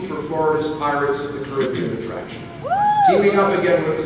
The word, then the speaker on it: Caribbean: Working with Claude Coates, Colin helped develop Disneyland's Pirates of the Caribbean, or Caribbean, depending on how you like it pronounced, as well as designs for the fabled Club 33.